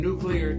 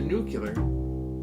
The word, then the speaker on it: nuclear: with no fear though how the pronunciation went from nuclear to nucular still remains on killer